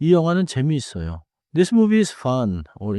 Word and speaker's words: 재미있어요: 재미 있어요. is often pronounced as one smooth word. 재미 있어요.